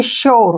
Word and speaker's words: sure: ठीक है, तो यू का जो उच्चारण है हम यो के रूप में करेंगे, ऐसे। इसको पढ़ेंगे हम SURE, यानी कि श्योर।